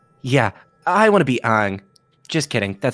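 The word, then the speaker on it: Aang: little avatar uh yeah i want to be ang just kidding that's how they pronounce in the movie is the real pronunciation i remember how that me up when they called him ong in the movie oh suggest a team name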